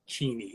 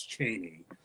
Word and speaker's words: Cheney: I call it because that's how it's properly pronounced sorry Spokan people it's not cheny it's Cheney um it was a town kind it was